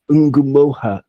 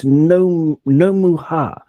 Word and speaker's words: Ngumoha: Bongo, he or she, they have seen on YouTube that it's Nomuha, like Omaha, but Nomuha. But I'm not sure where you get that from, because according to my research, Bongo, it's Ngumoha, and it's from the